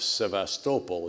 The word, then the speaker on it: Sevastopol: ability to use the port of sevastopol is how it's pronounced I learned in Crimea and they had to